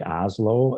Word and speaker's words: Asolo: shoes as much but oslo it's spelled asolo oslo it sounds like oslo that's a fantastic company